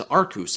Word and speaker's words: Arceus: For the uninitiated, we pronounce Yveltal as Yveltal and Arceus as Arceus here on this channel.